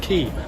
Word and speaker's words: Quay: Quay, it's pronounced Quay.